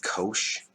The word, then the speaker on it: cosh: It's read phonetically cosh.